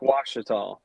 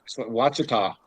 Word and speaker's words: Ouachita: So you pronounce it Lake what? Lake Ouachita. Ouachita. Jim, how do you call it? Ouachita.